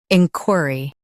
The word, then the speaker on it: inquiry: in qui uh ry, inquiry in qui uh ry, inquiry In US, stress in. In UK, stress qui.